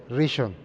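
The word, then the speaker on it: ראשון: Es que tiene como dos acentos, no sé cómo, pero Rishon.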